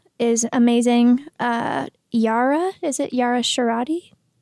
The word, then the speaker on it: Shahidi: Yara, is it Yara Shahidi? Shahidi.